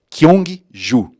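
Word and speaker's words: Gyeongju: falar dessa cidade aqui nós vamos falar kyong Ju porque essa é a pronúncia local que o guia vai falar com ele né que os locais vão pronunciar Então já entendendo isso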